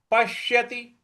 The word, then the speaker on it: पश्यति: हो जाएगा योमाम पश्यति पश्यति यहां जो प के बाद जो आधा श है उस पर हमें आघात देना है पश्यति सर्वत्र सर्वत्र पश्यति त पर छोटी इ की मात्रा पश्यति सर्वत्र और जो त्र